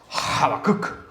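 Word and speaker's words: חבקוק: Se pronuncia habacuk. como que uno tuviera algo trabado aquí, algo así.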